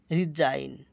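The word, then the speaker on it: resign: যেমন ডিজাইন, আইজিএন এখানে থাকার কারণে আইন উচ্চারণ হয়েছে। এসআইতে বর্গীর জ আসছে, আর আইজিএন থাকার কারণে আইন হয়েছে। রিজাইন পদত্যাগ করা, রাজত্ব, রেইন রাজত্ব, ফেইন ভান করা,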